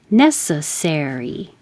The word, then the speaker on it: necessary: Necessary, Necessary. The stress is on the first syllable if it's an adjective, and it's on the third syllable if it's an adverb.